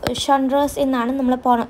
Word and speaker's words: genres: Now, we pronounce genres pronounce G is the same as Sha and the sound.